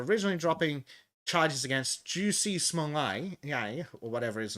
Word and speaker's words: Smollett: I just think of it as Smollett, a bit like Manlet.